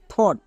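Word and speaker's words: thought: আগেরটা দেখলাম আগে এবার জি এইচ এর পরে যদি টি থাকে তখন জি এইচ সাইলেন্ট যেমন এখানে দেখো থট এখানে জি এইচ আছে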